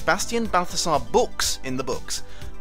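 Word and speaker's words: Bux: I know it's spelt Bucks, but it's Books. They say it in the first chapter that it's fitting that he's called Books because he loves to read books.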